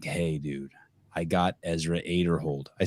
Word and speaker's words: Aderhold: And then I tell Brian, I'm like, hey, dude, I got Ezra Aderhold.